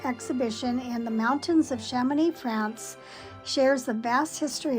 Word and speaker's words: Chamonix: That's Chamonix. So I'm not sure how you pronounce the X. It might be silent. I'm sure it is.